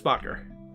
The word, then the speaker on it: Bocker: you doing there bocker hello um oh hey you actually pronounced my last name why it's a lot